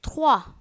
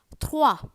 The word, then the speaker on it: trois: Every time you see this combination O, E, it is pronounced as wa. You might have heard trois, number 3, trois. Moi, roi. M-O-I, moi. T-R-O-I-S, trois.